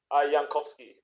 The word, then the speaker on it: Jankowski: say your last name jankowski yeah just like jake but how do you say it yankovsky yeah okay that's way cooler yeah anywho watch that